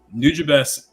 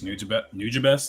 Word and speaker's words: Nujabes: So Nujabes, I'll write his name if this thing will let me write. Some people pronounce it Nujabes, but I think it's Nujabes. That's how I've always done it.